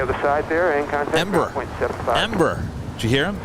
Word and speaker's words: Embraer: How do you say Embraer? Embraer. Ember. Ember. This sounds like embers, like, you know, on a fire.